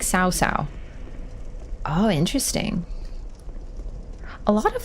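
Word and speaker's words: Cao Cao: it's like Dynasty Warriors the name cow cow was pronounced like cow cow then later it was getting pronounced more like SAA oh interesting a lot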